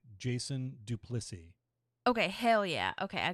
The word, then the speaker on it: Duplissea: My last name is pronounced Duplissea, by the way. Jason Duplissea.